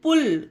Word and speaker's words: pull: तो यही बात है कि इसमें हम लोग डायरेक्ट एग्जाम्पल में सीखेंगे कि यू में यू का उच्चारण कब होता है। देखिए PULL पुल, इसे पुल पढ़ेंगे।